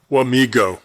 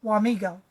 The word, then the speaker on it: Wamego: Wamego. That's the That's the Americanized pronunciation.